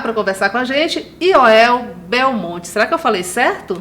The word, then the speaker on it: Yoel Belmont: Mas agora já vou chamar para conversar com a gente Yoel Belmonte. Será que eu falei certo? Falou. Porque é a origem hebraica, né? A pronúncia hebraica. É. Então, Yoel Belmonte.